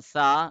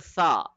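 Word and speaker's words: ث: but this is sa it should be softer gentler the tip of the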